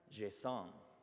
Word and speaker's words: JSON: I say JSON, some people say JSON, and Douglas Crockford, who created it, finally weighed in on it a few years back, and he was a jerk and said it's pronounced JSON.